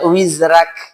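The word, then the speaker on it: وِزْرَكَ: Contoh di riwayatnya Imam Warsh, bacanya wizrak.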